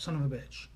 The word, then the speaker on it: son of a bitch: He said, it's accent on the second syllable. Son of a bitch. Just like that.